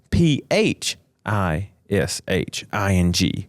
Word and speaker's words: phishing: we're referring to and if you're listening, it is spelled p h i s h i n g. Got you. Phishing. Phishing. The phonetic p h that makes the f sound.